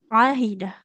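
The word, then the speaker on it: عهد: Bu tidak ahidah tapi ahidah ahida huruf ain bu ya di tengah tenggorokan kita ahida ahida kemudian Coba diulang Ibu sedikit sama di sini.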